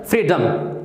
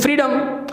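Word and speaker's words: freedom: बाद आता है तो उसकी प्रोनाउंसिएशन डॉम ना होकर के डम होती है, डम, फ्रीडम, okay, this is फ्रीडम, okay, फ्रीडम, इसको हम बोलते हैं विजडम, ओके।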